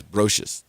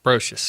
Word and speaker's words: Brocious: Well, Diane, I always pronounce the name wrong. It's Brocious. Brocious. I got it right this time.